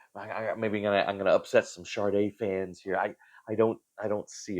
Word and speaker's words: Sade: Um, I my understanding is you pronounce it Sade. I would say Sade, but Sade, Sade, Sade.